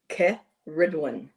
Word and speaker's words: Cerridwen: that's most used is K Ridwin. So, you're putting the emphasis on the the ridge in the middle of her name.